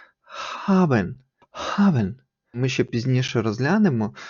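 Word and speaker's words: haben: між х і г Тобто це не буде Габен чи хабен то буде хабен хабен ми ще пізніше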